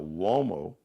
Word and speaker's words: Uomo: Now, Uomo, spelled with a U. It's an Italian surname. So Uomo is U like umbrella, O like Oprah, M like Mary, O like opera.